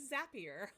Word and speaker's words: Zapier: because I was like how do you say it zapier zappy and she goes you'll be happier with zapier I'm like oh I